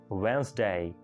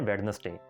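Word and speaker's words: Wednesday: Next one, बुध को English में कहते हैं वेंसडे, वेंसडे, लेकिन हम उसको बोलते हैं वेडनेसडे, वेडनेसडे, क्योंकि उसके अंदर वेड है, नस है और डे है, तो बना दें जी इसको वेडनेसडे, लेकिन करेक्ट है वेंसडे।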